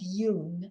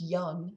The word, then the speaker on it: Jung: The first two names, Freud and Yun, sometimes pronounced young in the United States, are likely the most familiar to you.